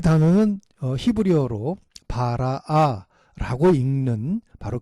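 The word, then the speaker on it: ברא: 단어의 의미 로 반박에 됩니다 이 단어는 히브리어로 바라 알아 라고 읽는 바로 그 단어를 사용하고 있는데요 오직 이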